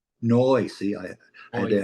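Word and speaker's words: Neu!: Is it pronounced new or now? Noi. Noi.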